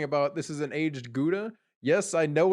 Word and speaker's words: gouda: the person's talking about this is an aged gouda yes i know it's pronounced hoda or howda however you say it and she says luda